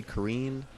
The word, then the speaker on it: Karin: is in Naruto, Karin, and it was supposed to be pronounced Karen. So some people say Kareen.